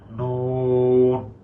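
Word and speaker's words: نون: বাতাসটা আটকে যাচ্ছে অর্থাৎ যেমন আমি নাক ধরে দেখাচ্ছি নুন এই যে এই যে নাকে গিয়ে বাজতেছে দ্যাট মিন্স আমার কি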